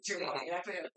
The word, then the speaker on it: Giovanni: I was pronouncing him bad, so Giovanni.